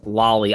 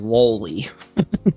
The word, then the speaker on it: loli: had no idea that you had to pronounce loli as lolly. I literally had for years thought it was lolli.